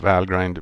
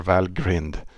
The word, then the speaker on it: valgrind: use a lot of valgrind but uh or Val grinned I I believe Julian says Val grind I have a hard time just to use that pronunciation but I think it's well grinned uh yeah we use